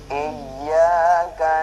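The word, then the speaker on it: إياك: Nah, di sini banyak orang baca iya karena bukan iya, akan tapi iya, ada tasdid daripada iya ya. Iya. Nah, jadi di sini ada tasdid. Iyyaka na'budu wa iyyaka nasta'in.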